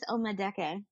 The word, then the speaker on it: Omadeke: And I have with me a special guest, Omadeke. I hope I pronounced that right. And my name... Close. Omadeke. Omadeke. Awesome. Yes, there we go.